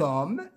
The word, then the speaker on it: homme: y m6 m6 cet homme cet homme cet homme le h ne se prononce pas citer rage muet cet